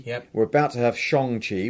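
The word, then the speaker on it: Shang-Chi: we're about to have shang chi which i've learned is how it's pronounced not shangji it's shang eternals is going to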